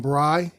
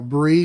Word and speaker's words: Bry: Adam Bry, or Bree, wherever you want to pronounce his last name, B-R-Y.